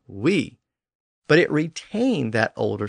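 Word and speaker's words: oui: langua doil of course oil eventually lost that l sound at the end and it just became o and then it lost the o sound at the beginning and it just became we but it retained that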